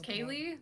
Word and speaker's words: Kaylee: is pronounced Carousel but my real name is Kaylee but everyone thinks it's kale and it's kind of